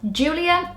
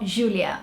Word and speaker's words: Júlia: The Brazilian one is more of a J sound and the British way is more of a J. And also in Portuguese, it's common to have the accent over the letter U, and that just basically tells you that the inflection is on the first syllable.